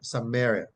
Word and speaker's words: Samaria: Now, the transliteration of the word from the Greek to English is Samaria, and it is pronounced Samaria, Samaria, Samaria, Samaria, right?